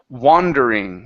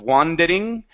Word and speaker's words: wandering: okay um next up wandering okay so here we're we're going to use that a but give me a good R here instead of wandering wandering wandering uhhuh I